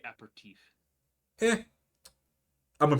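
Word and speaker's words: apéritif: It's technically aperitif.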